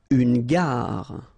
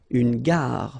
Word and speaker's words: gare: Une gare. Okay, remember when you get these G and A together, the sound is g, ga, ga. Une gare, final E not pronounced. Une gare.